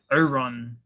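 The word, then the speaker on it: Orun: So, it's Oron.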